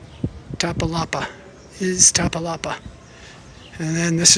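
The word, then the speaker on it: Iztapalapa: Tapalala, whatever. It's not pronounced that way. It is Tapalapa.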